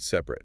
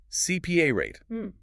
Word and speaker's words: separate: Brazilian speakers often put the stress on the wrong syllable, saying CPA rate. Lilian, the power of the word is at the very beginning. Separate.